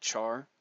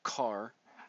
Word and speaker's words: char: a character in with the Char or car however you want to pronounce it keyword and it stores